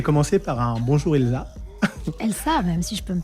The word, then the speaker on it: Elsa: Elsa, même si je peux me permettre. Elsa, Elsa, absolument. c'est vrai, c'est la prononciation Exactement.